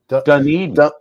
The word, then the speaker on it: Dunedin: is it what is it done done Eden Dunedin yep ah Paul I'm not coming I'm not